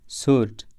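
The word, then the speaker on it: sword: tell tell कहानी स्टोरी इस लफ्ज में डब्लू साइलेंट है सर्ट सर्ट तलवार स्वर नहीं कहा जाता है नहीं पढ़ा जाता है डिस्पाइना ब वजूद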